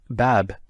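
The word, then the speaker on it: باب: ' This is a door' and notice I actually pronounce the last letter and obviously if you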